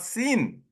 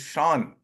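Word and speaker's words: Sean: the other one is is not seen is Shan Shan connory and is not Roosevelt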